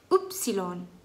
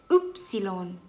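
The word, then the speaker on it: Ypsilon: Upsilon. Upsilon. Upsilon. Ini juga rada ribet sih ya, cuman mau bilang Y. Upsilon. Ada 3 suku kata.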